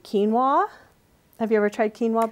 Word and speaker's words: quinoa: UI and Oh a it looks like Queen Noah uh-huh and it's pronounced quinoa it's a whole grain